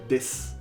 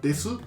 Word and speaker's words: desu: No es desu, des. El des es una palabra que pones al final de la frase para agregarle respeto. O sea, si es un desconocido o una persona mayor que tú, agregas respeto con des.